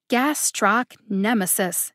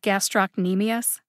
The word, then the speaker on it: gastrocnemius: make me laugh again gastroc nemesis he said instead of gastrocnemius same thing he made